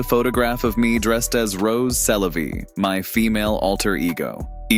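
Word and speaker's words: Rrose Sélavy: When pronounced in French, Rose Sélavy sounds like Eros, c'est la vie.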